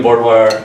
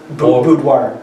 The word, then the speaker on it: boudoir: We're doing boudoir. How do you pronounce that word? Boudoir. Boudoir. There you go.